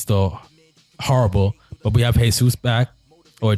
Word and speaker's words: Jesus: Our fullback situation is still horrible, but we have Jesus back, or Jesus. I think it's Jesus, yeah, because you pronounce the J in Brazil, in Portuguese.